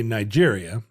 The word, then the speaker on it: Niger: But are there Anglo people who will just say Niger? Like people who are pronouncing it wrong. Okay. Good to know. You can say Nigeria, which is a neighboring country. Sure. But Niger is how Niger is pronounced.